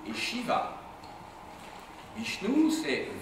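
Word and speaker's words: Vishnou: sud de l'Inde avec deux divinités qui dominent, Vishnu et Shiva. Bichnou, c'est V i S h ou N O U.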